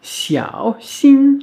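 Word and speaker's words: 小心: Le x, on l'a vu donc très récemment, qui se prononce comme un ch, mais plus sifflant, plus chuintant, comme si on faisait un sourire en même temps.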